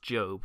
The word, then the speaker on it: Job: the book of job i know it's pronounced job but for the sake